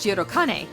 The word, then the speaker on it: Shirokane: Although spelled with the same characters, the district Rio is named after is pronounced Shirokane, a district known for its institutions and upper-class neighborhood.